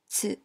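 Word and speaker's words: つ: In this lesson, we will learn the hiragana ta, chi, tsu, te, to. Notice that the ti syllable becomes chi and the tu syllable becomes tsu. Now, let's begin.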